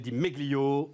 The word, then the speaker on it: Di Meglio: On repart les amis, on repart avec Di Meglio. Salut. Salut. On ne doit pas prononcer le G d'ailleurs à mon avis. Absolument, on dit Di Meglio.